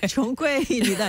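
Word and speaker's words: 穷鬼: 역시 중국어 발음이 총꼬에이입니다.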